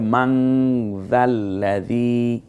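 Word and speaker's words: مَن ذَا الَّذِي: মান যাল্লাযী, মান না বলে মান যাল্লাযী, এই যে আমি উচ্চারণ করে যাচ্ছি, আপনারা বারবার এটা রিপিট করে নিয়ে নিতে পারবেন।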